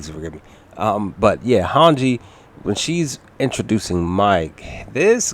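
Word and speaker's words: Hange: give me a second so hanji that's it hanji i apologize that's my fault guys please forgive me i was saying her name wrong definitely forgive me um but yeah hanji when she's introducing mike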